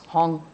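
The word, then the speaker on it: 行: That h is in Cantonese pronunciation is hong.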